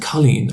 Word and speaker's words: Colleen: They they're pronouncing it Colleen as in Irish for girl. Yeah. Yeah. Colleen.